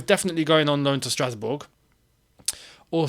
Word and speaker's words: Strasbourg: going on loan to Strasbourg, or Strasbourg, as it's actually correctly said. I've seen some French going, don't pronounce the G. It's actually correct. You're not meant to pronounce the G.